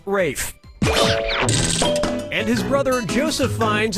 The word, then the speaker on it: Ralph: player one yep Ray first name is spelled like Ralph but pronounced Rafe and his brother Joseph